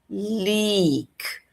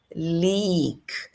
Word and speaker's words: leak: São duas vogais juntas, portanto elas têm um som prolongado. Então fica leak leak.